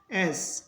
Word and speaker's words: edge: उसके बाद में जी है तो जी का उच्चारण होगा, इसको पढ़ेंगे एस, किनारा।